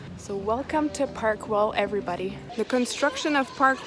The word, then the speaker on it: Güell: now in park well it's written g-u-e-l-l but it's pronounced well so welcome to parkwall everybody the construction of park well began in 1900 and it came to a halt in 1914.